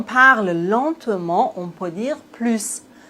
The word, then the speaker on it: plus: Ici, on doit prononcer le s plus.